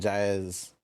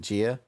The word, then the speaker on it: Gia: Kippy is kind of sitting in Jaya's. Sorry, I'm gonna keep pronouncing it. How you pronounce her name again? Is it Gia? Yeah. All right.